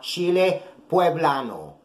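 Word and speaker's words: chile poblano: They're also called chile pueblano. Chile pueblano. That's how you say it.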